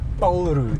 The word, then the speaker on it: Paul Roux: road to Paul Ru you'll go paulu I'll go polu okay polu is actually the right pronunciation you're an Englishman I